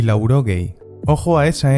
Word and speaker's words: laurogei: hamaika, hirurogeita emeretzi, laurogei, laurogeita bat, laurogeita bi, laurogeita bederatzi, laurogeita hamar, laurogeita hamaika, laurogeita emeretzi. Puede que escuches larogei en vez de laurogei, aunque en batúa se mantiene esa U.